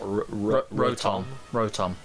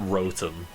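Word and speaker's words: Rotom: is it pronounced that ROM yeah so it's not RM it's like it's motor backwards oh that sh really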